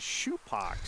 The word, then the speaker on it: Supak: guess, and said, I think the name is Supak.